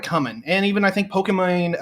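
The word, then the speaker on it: Pokimane: and even i think pokemon um that's actually how you pronounce it um actually made a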